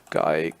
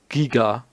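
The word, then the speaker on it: Giger: Geiger Museum at Gruyère. Or H.R. Giga would probably be the correct German pronunciation.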